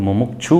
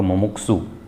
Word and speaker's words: मुमुक्षु: मुमुक्षु जो शब्द है, नॉर्मली हम उसको मुमुक्षु बोल देते हैं, सही उच्चारण होगा मुमुक्षु।